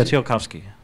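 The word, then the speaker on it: Tsiolkovsky: Speaking of Tsiolkovskii's 14th point, I think anyone who yeah, Tsiolkovsii, thank you. I tried to pronounce it, but it had a lot of consonants in it.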